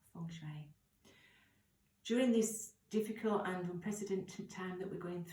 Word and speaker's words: Feng Shui: meaning wind and water it was actually spelt Feng Shui but pronounced Fung Shui during this difficult under